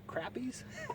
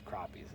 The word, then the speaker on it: crappies: She used to say, "Are we fishing for crappies?" She'd read it in the rules. You can only have 6 crappies on your stringer. I'd say, "No, it's crappies."